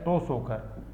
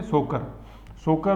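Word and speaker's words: Tso Kar: इसको इंग्लिश में लिखेंगे ये टी ओ एस ओ के आ तो यह टो साइलेंट है या टी साइलेंट तो केवल क्या बोलेंगे सोकर सोकर और सो मोरे ट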